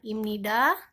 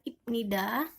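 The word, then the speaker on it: 입니다: Ya, jadi ini dibacanya imnida, bukan ipnida. Sebab terjadi asimilasi bunyi saat bacim biep bertemu dengan huruf nien. Sekali lagi dibacanya menjadi imnida, seakan-akan biep ini menjadi miem.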